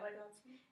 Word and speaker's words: Vygotsky: My question for this one was, like, comparing that article to the theories of, how do you pronounce his name? Vygotsky? Yeah, Vygotsky.